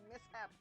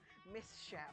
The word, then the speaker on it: mishap: Why did I mispronounce mishap? Misshap. It happens. Mishap.